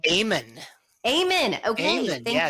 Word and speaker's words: Amen: Amen.